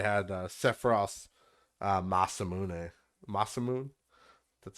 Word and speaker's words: Masamune: in particular they had uh sephiroth uh masamune masamune that's how you say it but yeah there